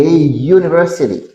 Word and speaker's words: university: exemple n university Universque que u prononcé comme you son you et mettre a deval a university a university a unit